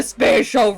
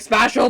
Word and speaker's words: spatial: is my domain the spatial Rift you've been saying it like special but it's spatial what this a spatial Rift you supposed to say it like spatial you dare distort space